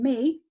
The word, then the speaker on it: me: E, the E in me is in an open syllable.